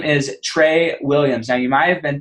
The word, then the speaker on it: Tra Williams: no so th this gentleman his name is Trey Williams now you might have been thinking how is that Trey because it's doesn't spell Trey it spells TR R A but it's Trey Williams okay I pronounced it wrong I'm glad he